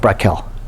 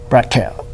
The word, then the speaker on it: becquerel: Yeah, I think it's pronounced Brackel.